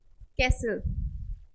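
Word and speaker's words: castle: चलिए silent T वाले words देखते हैं हम। क्या है ये हमारा? रेसल, listen, कैसल, फासन, फासन।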